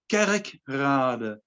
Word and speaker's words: Kerkrade: The name of the place is called Kerkrade, and Kerk means church, and Rade is like village or something. But you write it like Rade, so it's like the church of Rade, Kerkrade, we call it.